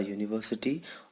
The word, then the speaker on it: university: vowel sounds for examples a university although u is a vowel but it has the sound of i mean uh it has the sound of a consonant sound so it means we